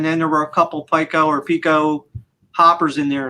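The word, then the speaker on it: Piko: I say Pico because I've watched their channel before, and I think it's Jonathan Mentor that does their stuff, and he says Pico. So I go with that being the proper pronunciation of that.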